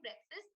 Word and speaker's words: breakfast: So breakfast is where you're just eating up all the vowels. You're just saying breakfast without pronouncing any of the vowels in the word.